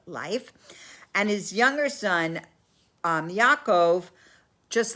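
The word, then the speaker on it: יעקב: and one was jacob yaakov i'm going to say their names in hebrew but i'm just going to say the english pronunciation of esau and jacob is asav and yaakov and yitzhak who's isaac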